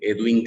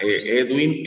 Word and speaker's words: Edwind: Edwin Galvis. Edwin se escribe E-D-W-I-N-D. Edwin, ajá.